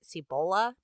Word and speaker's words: Cibola: he's calling Cibola and I really hope I said that right I did when I call it si bola that's how it's spelled because it just sounds too much like Ebola so I think that was pronounced Ebola and si bola is the fabled City the seven in one